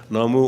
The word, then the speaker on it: Namu: it tells us that these various forms of the Buddha's name are all valid. Namo Amida Butsu, Namo Amida Butsu. That's just a different pronunciation of the same thing. Namu or Namo Amida Butsu